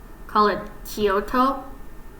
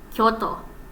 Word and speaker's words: Kyoto: I know like some people in America call it Kyoto or Tokyo, but in actuality it's Tokyo, Kyoto. It's like the kyo sound. It's like one. It's one syllable. Like don't split it apart.